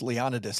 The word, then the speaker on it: Leonidas: Well, I'm just saying that it's it's pronounced Leonidas like the town in Michigan.